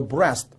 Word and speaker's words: breast: 그 다음에 soldier의 예문을 보시면 The soldier was shot in the breast. 아까 우리 배우고 왔죠? breast라는 단어는 east가 들어있지만 그렇게 발음하지는 않고 rest, 휴식이라는 단어를 가지고 와서 발음을 가지고 와서 breast로 발음한다. 좋습니다.